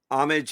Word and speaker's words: homage: More fun, And speaking of words, homage is not a word. Homage is your. but it says as homage. it's homage. I think the H is silent.